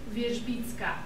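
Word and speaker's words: Wierzbicka: How do you pronounce it again? Wyszbicka.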